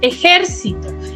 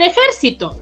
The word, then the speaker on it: ejército: Por ejemplo, dice ejército. Ejército, ¿cuántas sílabas tiene? Tiene ejército. Tiene 4 sílabas, ¿no es así? ¿Y cuál es la sílaba tónica de esta palabra, de esta primera? Es la jer.